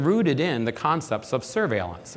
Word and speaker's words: surveillance: in the concepts of surveillance except in French it's pronounced suveillance it's about using information